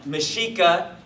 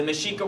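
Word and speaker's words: Mexica: three people right shocking um so um mishika um the mishika were the indigenous people of the northern region of what you would now know as as Mexico okay or Mexico and uh mesika is spelled me X I ca okay and this is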